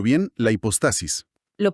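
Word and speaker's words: hipóstasis: La eh, a ver si lo pronuncio bien, la hipostasis. Lo pronunciaste perfecto, hipostasis.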